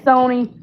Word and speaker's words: Sony: I said Sonny and my husband said it's not Sonny, honey, it's Sony.